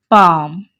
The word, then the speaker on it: palm: L is silent over here, so it is palm.